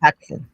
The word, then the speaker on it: Patuxent: I can't pronounce it. It's not Peace on the Potomac, but Peace on Patuxent. Patuxent.